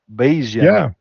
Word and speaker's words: Bayesian: How does the Bayesian statistics influences your process, and what are its main benefits? I don't know if I say it correctly. Bayesian. Yeah, no, that's perfect.